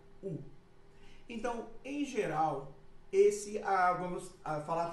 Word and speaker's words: o: Vamos começar com o artigo O, que a gente em português pronuncia U.